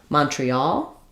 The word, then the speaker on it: Montreal: in shall and sal, it's usually aw, the aw vowel like in all. So, I would rewrite that for you with aw. For example, Mon tre al. You can think about it just like the word all, as well. All, we all live in Montreal. That's also probably a good way to remember that we that's where we have the stress. In Montreal, I would say we probably have secondary stress on that first syllable because it has the clear aw vowel.